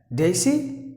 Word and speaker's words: daisy: The first word is Daisy. Yeah, exactly. But then there's a slight change. Just imagine instead of the letter S, you apply the sound of Z.